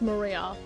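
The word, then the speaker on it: 真里亞: Her name is written in still can't read of course is pronounced Maria.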